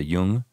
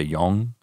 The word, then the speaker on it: Jung: Like I listen to a book and people say Jung. Then people say young, and then people say young. And I can already pronounce the word young, so I'm going to just say that.